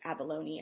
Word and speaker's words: abalone: It's abalone is how you say it.